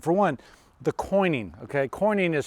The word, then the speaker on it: quoin: think are important for one the coining okay coining is spelled q-u-i-o-n what that is is that in